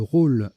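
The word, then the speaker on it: rolle: Le roll, R-O-2-L-E, oiseau voisin du jet.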